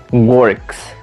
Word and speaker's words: works: For example, how do you pronounce the third person of work? Es works. Works, nada más como una S.